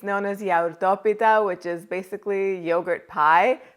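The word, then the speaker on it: γιαουρτόπιτα: yogurt lemon cake in greek it's known as yaurtopita which is basically yogurt pie but it's definitely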